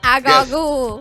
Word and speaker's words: Agallah: I loved the Agallah. Am I saying it right? Agallah. Agallah. Yes.